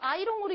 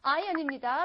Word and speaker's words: iron: 이거 아이롱으로 읽는 분 안 계시죠? 아이롱 파마라고 하시면 안 돼요. iron입니다. We do not pronounce R. R 발음 안 해요.